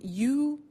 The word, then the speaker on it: used: Now, this verb, used to, well, it's written U-S-E-D, but the pronunciation is used, and we'll see that on the screen later.